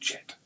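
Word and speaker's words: Djet: The snake is pronounced Jet.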